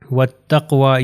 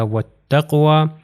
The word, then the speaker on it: وَالتَّقْوَى: یہ ہو جائے گا وَالتَّقْوَى، یہ واو کے بعد الف اور لام میں یہ پروناؤنس نہیں ہوں گے، تو یہ تے سے مل جائے گا، ہو جائے گا وَالتَّقْوَى۔ پھر یہاں پر ہمارے